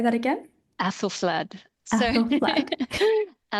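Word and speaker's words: Æthelflæd: Um and it makes a kind of sound that's a little probably closest to like the A in apple. It's like a bit of an AE basically. I mean, we still use it in words like pediatrician, encyclopedia, but um it's got a slightly different sound, so it's sort of like an A, so it's Aethelflaed.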